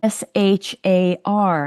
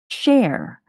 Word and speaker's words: Shar: And it turns out that this person, her name is pronounced Cher.